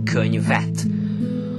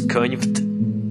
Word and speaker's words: könyvet: Of course there is the e sound, because if we wanted to pronounce könyvt, that would be really impossible. Or, well, it's possible, I have to tell you, but it's really ugly if you say könyvt.